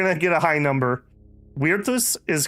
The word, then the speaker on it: Virtus: Virtus is correct.